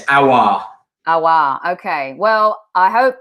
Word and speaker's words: Aouar: But yeah, it's Aouar.